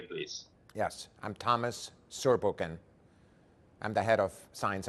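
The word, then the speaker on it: Zurbuchen: name and your surname so then we can pronounce correctly please yes i'm thomas surbukin i'm the head of science and natasha people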